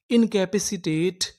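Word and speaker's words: incapacitate: ई टा पूरी meaning in कैप पे शीटेट इनकैपेसिटेट इनकैपेसिटेट इनकैपसिटेट का मतलब होता है असमर्थ करना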